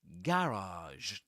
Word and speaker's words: garage: But in American English, you get at the very beginning in the first syllable awah. So you say gg. And the second syllable which is the accented syllable that's a a garage.